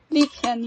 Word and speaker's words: Liebchen: So it's Liebchen. Is that how you pronounce it? Liebchen, yeah. That's like the German word for darling or sweetheart.